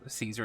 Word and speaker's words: Caesar: um kind of like how caesar is pronounced more like kaiser true but at the